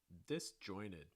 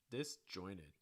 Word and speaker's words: disjointed: not usually pronounced so when you get a t sound after the letter n it's usually not pronounced in american english pronunciation